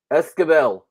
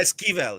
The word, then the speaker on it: Esquivel: I just, Esquivel. say it again. Esquivel. Am I Esquivel. pronouncing that right? Am I doing good? Yeah, that's pretty close. Yeah, it's Esquivel. Yeah. Okay. Esquivel.